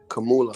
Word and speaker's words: Kamala: Kamanya, you mean Kamanya Harris? Kamanya Harris? Kamala.